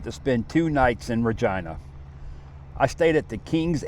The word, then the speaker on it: Regina: Then onto a town called Regina. Yes, that's how they pronounce it. I was tired from the previous road trips and decided to spend two nights in Regina.